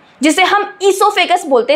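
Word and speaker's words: oesophagus: That is food pipe में जिसे हम इससोफेगस बोलते हैं। स्पेलिंग ध्यान से देख लेना। इससोफेगस। इसमें ओसाइलेंट होता है बच्चों।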